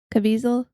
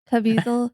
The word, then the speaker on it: Caviezel: Uh, Caviezel, that's his Sure. name, Caviezel. Yeah, It's called it rhymes with weasel, which Caviezel.